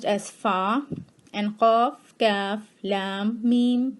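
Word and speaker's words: ف: Te will be pronounced as Ta, and Fe will be pronounced as Fa.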